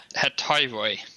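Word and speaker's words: Hetairoi: Heteriori? Is that how you say it? Let me look at the pronunciation. Hetiroi.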